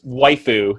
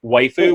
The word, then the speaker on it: waifu: right in the post waifu what the way food my waifu is what an anime fan will call the their female female character because it's the kind of Japanese Japanese pronunciation of word wife so it's all white